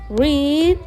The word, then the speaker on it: read: Kemudian verb satu dari red itu adalah read ya. Bacanya beda tapi tulisannya sama.